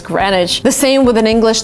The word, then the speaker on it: Greenwich: So it's actually written Greenwich. You would kind of read it in this way, but the right way to say it is Greenwich.